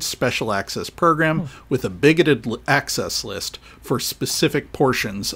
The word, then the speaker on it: BIGOT: out about the program unless you're on the bigot list there's another level above that which is